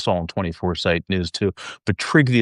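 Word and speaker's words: Trygve: But Trigy is spelled T R Y G V. It's um Norwegian.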